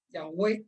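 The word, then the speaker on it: Yahweh: como ya veo como jehová ya way en su pronunciación verdadera pero igual no más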